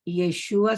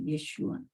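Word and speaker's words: ישוע: Jesús el que resucitó yeshúa su nombre en hebreo yeshua yeshua Esa es la pronunciación correcta No Jesús no Jesús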